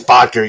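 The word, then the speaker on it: Boettger: signing veteran Ike Botker or Botker, however you pronounce I his think name. it's Botker, yeah.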